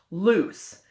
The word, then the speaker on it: loose: And the S just sounds like an S, and the S is bringing along a silent E at the end. Now, I don't want you to confuse that with the word lose over here.